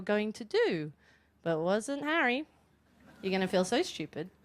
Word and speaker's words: Harry: on it and we would watch all the Harry Potter DVDs and at the end I would say who did you identify with in that and he would say hair Potter and I'd say first it's pronounced Harry